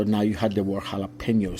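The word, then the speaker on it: jalapeño: to think about it jalapeno it's not jalapeno it's jalapeno so we're going to get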